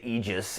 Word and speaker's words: Aegis: I say Aegis Rim because I pronounce it in Latin. I guess they say Aegis in the game. Guys, that shield that Athena has, it's not an Aegis, it's an Aegis.